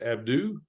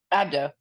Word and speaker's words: Adbo: Is it Abdu? Adbo. Abda. Okay. See, I said it wrong. So I got the Abda.